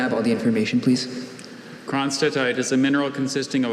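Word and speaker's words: cronstedtite: Kronstadtite. Kronstadtite, can I have all the information, please? Kronstadtite is a mineral consisting of a black hydrous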